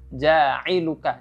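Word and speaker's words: جاعلك: di sini ya perhatikan Ain itu Ditekan cara membacanya jailuka Jangan jailuka ya jangan diubah menjadi huruf hamzah ya karena Hamzah dan huruf Ain makhrajnya beda Ain ada di tenggorokan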